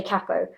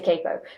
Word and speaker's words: capo: things going on about because I say cappo, but the thing is I'm English so and English people kind of say cappo normally and Americans say capo.